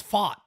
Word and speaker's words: Pfaadt: thought it was like I thought it was fought so it's fought it's fought yeah it's fought and like you're saying fought from Boston a f like exactly like a fought like a exactly exactly